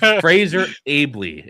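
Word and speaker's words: Fraser Aebly: So Fraser Ailby is how you say that name.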